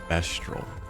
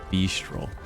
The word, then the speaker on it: Bestral: I can't believe it's pronounced Bestral. Why would it not be pronounced Beastral?